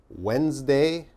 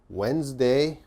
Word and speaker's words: Wednesday: the next one okay this one's a little difficult Wednesday Wednesday okay what's the problem now Wednesday has a d but when we say